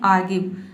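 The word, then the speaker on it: argue: जैसे कि यहाँ पे देखिए आर्ग्यू, ठीक है, आर्ग्यू, इसमें आर्ग्यू नहीं आपको पढ़ना है, यहाँ पे जो आर लेटर है इसको साइलेंट रखना है, आपको बोलना है आर्ग्यू।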